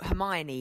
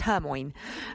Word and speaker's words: Hermione: And I know Hermione in Harry Potter was a bit contentious because a lot of kids read that as just Hermoine, but actually it worked really well in the end.